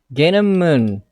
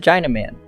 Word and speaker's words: Gainamun: His name is Gainamun, but most people pronounce it China Man.